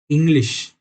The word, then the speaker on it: Englisch: पर जर्मन में ENGLISCH, इंग्लिश। तो इधर का और इधर का श स्पेलिंग में डिफरेंट है। जापानिश, JAPANISCH। तो जिधर जिधर आपको SCH लगेगा वो श की तरह प्रोनाउंस करना।